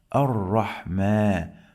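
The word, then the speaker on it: الرحمن: We have this small alif. Okay? It works like long vowel alif. So we are going to say Ar-Rahma. Ar-Rahmani. Like this.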